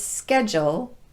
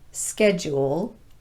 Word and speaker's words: schedule: over time reduced the long u sound to more of a schwa vowel so it's schedule not schedule module not module nodule not nodule fraudulent not fraudulent and credulous not credulous let's practice each of